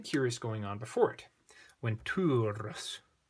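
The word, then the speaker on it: venturus: Ventures. Got a long U there.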